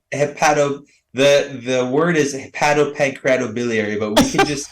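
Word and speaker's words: hepatopancreatobiliary: you're board certified Hilary Heil how do you pronounce that doc hi the the word is hi pancreatobiliary but we can just say h p as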